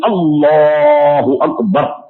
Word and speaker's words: اللہ اکبر: آپ یقیناً روزانہ سنتے ہیں، اس کا تلفظ ہے صحیح اللہ اکبر، یہ اس کا تلفظ ہے۔ اس میں 3